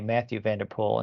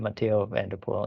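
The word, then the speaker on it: Mathieu van der Poel: like the American way he'll always say Matthew vanderpol instead of Mato vapol and we kind of try a little bit the European pronunciation so I've been saying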